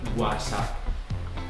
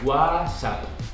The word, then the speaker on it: WhatsApp: Porque no espanhol a gente fala WhatsApp. A gente não pronuncia o T. E esse W a gente pronuncia G. WhatsApp.